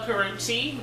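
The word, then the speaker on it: Karrueche: So, also Karuchi, that's how you pronounce her name now.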